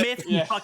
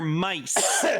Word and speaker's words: My-th: Not myth plebs. It's common rider mice. So, it's spelled MY-D, but it's pronounced mice apparently.